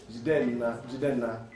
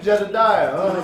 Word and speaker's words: Jidenna: Jidenna. Jide means to embrace or to hold. Nna, in the Igbo language where I'm from, in Nigeria, means the father. So Nna, Jidenna. That's how people say it.